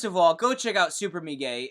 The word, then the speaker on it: Super Mega: and don't already watch Super Me Gay, first of all, go check out Super Me Gay, and that's Super Mega. I'll say it correctly, Super Mega, so you type it in right.